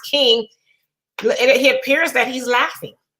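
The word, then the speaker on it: Kueng: the name of the last name is king it's spelled k-u-e-e-n-g but it's uh pronounced king he appears that he's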